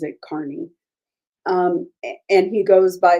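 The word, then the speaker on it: Kearney: Carney um it's spelled like Kierney but he pronounces it Carney um and he goes by the handle Turtle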